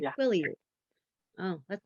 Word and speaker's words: Quileute: Quileute. Oh, that's not exactly how they go. If you pronounce it, that's not how you say it.